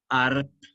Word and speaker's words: Arp: Hans se escribe H-Hans, Arp con P, así como suena Arp, y otros, pero por